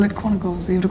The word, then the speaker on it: Quantico: It is not Quantico. It's Quantico. Quantico. But that's how they say it.